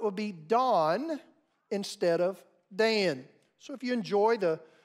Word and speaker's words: Dan: But if we're speaking as a Hebrew would speak, the letter A, as it sounds in Dan, is not in their alphabet. Like Dan, Can, or Ran, they would use the